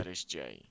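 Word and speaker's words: šaltibarščiai: Schaltebarishche.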